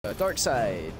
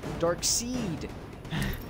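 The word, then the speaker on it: Darkseid: look like random idiots dark side or sorry dark seed as it's pronounced well this is literally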